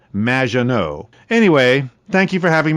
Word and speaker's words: Maginot: have mispronounced my name it's m which rhymes with badge uh as in Du and no as in more than you MAA no anyway thank you for